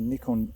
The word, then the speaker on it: Nikon: It's a Nikon D7500 with a Sigma 150 to 600mm lens. And by the way, Nikon, it is pronounced Nikon, not Nikon.